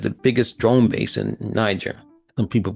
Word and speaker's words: Niger: United States had the biggest drone base in Niger. Some people pronounce it Niger.